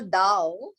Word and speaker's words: Tao: so what we call Dao Tao which is spelled as T but pronounced as d refers to this Divine